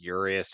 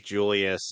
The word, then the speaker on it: Julius: Why are they pronouncing his name as Urius in this dub when he's Julius in everything?